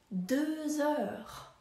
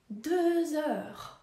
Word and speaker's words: deux heures: W wymowie obie te frazy różni tylko jeden dźwięk. Godzina druga, deux heures, deux heures. A dwunasta, douze heures, douze heures. Deux heures, douze heures.